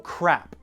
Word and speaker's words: crap: Crab or crap? Some languages don't differentiate between the two, the P and the B. So how do you pronounce them? Well, the P is what we professionals call an unvoiced sound.